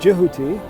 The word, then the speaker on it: Tehuti: And the same thing with Tehuti. There are people who are pronouncing as Jehuti, or if you want